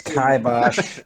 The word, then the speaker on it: Kibosh: It's Kibosh. You mispronounce it every time.